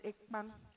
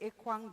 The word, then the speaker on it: Ekpan: Now, depending on where you're from in Cameroon, some people call it Ekpan. Ekpan. The original word is Ekpan. Some people say Ekwan, depending on how you pronounce.